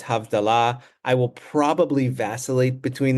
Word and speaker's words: havdalah: the sky we start havdala and in better Hebrew pronunciation it's havdalah I will probably vacillate